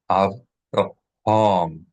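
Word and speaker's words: אברהם: 3 syllables. Avraham.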